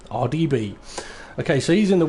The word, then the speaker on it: RDB: RDB? Yeah. Easiest way is just think of it as the letters. The letter R, the letter D, and the letter B. RDB.